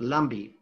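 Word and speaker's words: Lampi: is lumpy la mpi but it's pronounced like bee pronoun lumbee where the fish are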